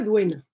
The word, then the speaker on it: Dehaene: Por ejemplo, Stanislas Dehaene, que yo creo que Duen, se pronuncia Duen, en realidad, es francés.